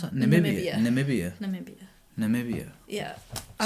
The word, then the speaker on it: Namibia: How do you pronounce that? Namibia.